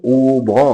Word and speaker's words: ওম: এটি হচ্ছে আসলে অ ও ম, অর্থাৎ ওম।